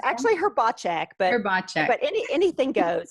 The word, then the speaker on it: Hrbacek: Is that It's pronounced actually Hrbacek, but Hrbacek.